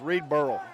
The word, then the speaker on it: Reed Burrell: Well, and we need to tell the announcer over there, it's Reed Burrell. Yeah. That's the way you pronounce it.